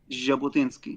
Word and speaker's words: Jabotinsky: and um Jab Jabatinsky how do you pronounce his name? Jabotinsky. Jabotinsky.